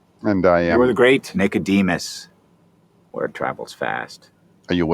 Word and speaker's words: Nicodemus: watching this scene that has no dialogue so nicodemus this is how we say his name in